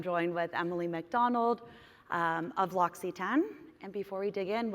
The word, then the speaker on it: L'Occitane: There's a YouTube video about that commonly mispronounced name. But L'Occitane, which is what we're going to be talking about today.